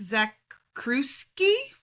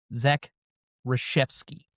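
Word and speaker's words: Zakrzewski: I need to tell you who the director is, but I can't pronounce it. Alex Zakuski, you apparently don't have enough Polish people around where you live. Zack Rashevski, thank you.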